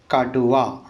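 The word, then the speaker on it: കടുവ: Okay ना, pronounce करते करते हैं का टू वा, काटुआ।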